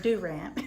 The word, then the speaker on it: Durant: Oklahoma State University and Durant Oklahoma and it's pronounced like that do ramp then I went to